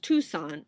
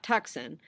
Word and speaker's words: Tucson: Tucson by the way it's pronounced Tucson not tuxen for several days longer